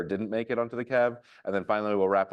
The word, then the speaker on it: KEV: today we're going to talk about uh the Kev which stands for the Canon exploited vulnerabilities list um and it's pronounced Kev uh we're going to go real quick over